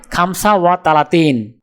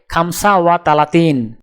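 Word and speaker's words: خمسة وثلاثون: আরবি ক্রমিক সংখ্যা 35 দেখতে এরকম, উচ্চারণ হবে খামসা ওয়া তালাতিন। তাহলে 35 ক্রমিক সংখ্যাটির আরবি উচ্চারণ হবে খামসা ওয়া তালাতিন।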